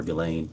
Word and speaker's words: Ghislaine: As best as we know, it's been publicly reported that in 2024, Ghislaine Maxwell, or Ghislaine, I think is how it's pronounced, arranged and wired $1 million to Publicist